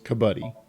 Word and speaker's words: Kabaddi: Kabaddi is the name. Is how that's pronounced.